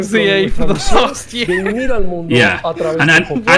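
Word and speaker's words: Z-A: might be right um they're pronouncing the hyphen so it is z2a not C A yeah that that will take some time getting used to because I've been saying Za for the yeah and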